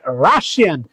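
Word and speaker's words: Russia: Dash রাশিয়ান, রাশিয়ার উচ্চারণ মনে রাখবা, রাশা, নট রাশিয়া, রাশান। তাহলে রাশিয়ান শর্ট মনে রাখবা, রাশিয়া। This is নট রাশিয়া, this is pronounce রাশা।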